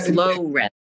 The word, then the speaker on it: Florence: Florence. It rhymes with the homie Lawrence.